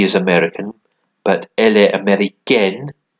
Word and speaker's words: américaine: But elle est américaine. You pronounce the N a bit more if it's got an E at the end.